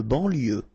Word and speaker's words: banlieue: De banlieue. Okay, final E not pronounced. So I-E-U, I-E, L, lieu, banlieue. De banlieue.